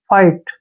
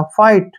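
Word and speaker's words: fight: का उच्चारण टे करेंगे फाइट ठीक है ना जब भी टी से पहले जी एच आता है तो जी एच का उच्चारण नहीं होता फाइट फाइट मींस क्या होता है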